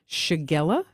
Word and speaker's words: shigella: of antibiotic I'm you know I'm going to mispronounce it shigella you got that right suits of concern to